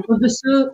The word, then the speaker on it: Kudusu: Kudusu. Onu doğru mu yazmış? Telaffuz edebildim mi? Kudusu doğru yazmış.